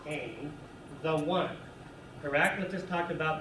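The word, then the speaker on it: ἕν: So, hen, pronounced ain, the one.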